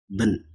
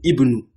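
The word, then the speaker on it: ابن: If it is standing alone, you have to pronounce it. If nothing comes before it, you can't say ben. You have to say ibnu.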